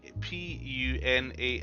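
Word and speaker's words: Punas: again says p a p u n a s but the S is silent it's Puna pun I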